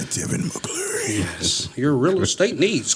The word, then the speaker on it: Tevin Mccleary: You gotta say his name like Tevin Mccleary.